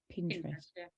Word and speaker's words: Pinterest: on Pinterest is that how you say it Pinterest yeah just put funny mum things um and